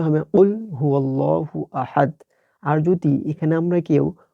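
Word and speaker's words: قُلْ هُوَ اللَّهُ أَحَدٌ: এখানে এই যে কফটা আছে, এই কফটা ক উচ্চারণ না করে আমাদের কফ উচ্চারণ করতে হবে একটু ভিতর থেকে। তো এখানে আমাদের সঠিক উচ্চারণটা হবে কুল হুয়াল্লাহু আহাদ।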